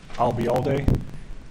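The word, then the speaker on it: Ayalde: record foreign Bravo a-y-a-l-d-e I'll be all day if it makes any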